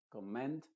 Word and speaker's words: commend: Se diría commend, combine, no se dice comment, sino commend, combine, commence, command, commute.